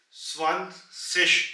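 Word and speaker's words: zwanzig: so let's start today's lesson 20 that is swan sish in German and over here you see from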